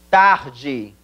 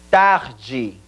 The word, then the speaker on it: tarde: Buenas tardes verdad Entonces significado y pronunciación de la palabra tarde sería en portugués y repitan conmigo taji una vez más taji muy bien y buena